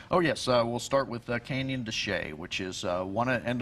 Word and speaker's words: Canyon de Chelly: yes we'll start with canyon de chelly which is one and it's looks like canyon de chelly if you see written out so some people pronounce it like that but it's canyon de chelly and this is one